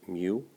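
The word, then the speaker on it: μ: 72 up to 107 that U is actually pronounced mu okay Nancy words you really don't need to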